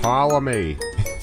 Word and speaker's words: Ptolemy: Ptolemy. Fine, The P is silent.